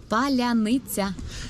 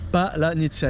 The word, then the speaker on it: Palyanytsia: un mot que les Russes n'arrivent pas à prononcer en ukrainien, et ce mot, c'est... Palyanytsia. Et le problème, c'est que moi, j'arrive pas à le prononcer non plus. C'est Palyanytsia.